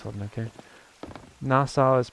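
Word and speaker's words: Nassau: a sparkle no luck bit R hold okay nasau is pronounced nasau ow ow nasau nasau thank you NASA is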